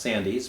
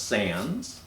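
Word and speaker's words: Sandys: like it's be pronounced sandy's but it's pronounced sans sans looks at this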